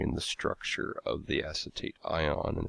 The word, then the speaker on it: acetate: And we have acetate, that's pronounced acetate, A-C-E-T-A-T-E.